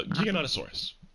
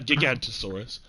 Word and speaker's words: Giganotosaurus: I say Giganotosaurus. That just feels right to me. No? That just feels right. Saying Giga. Not Giga, not Gigantosaurus. Giganotosaurus. I've always said Giganotosaurus.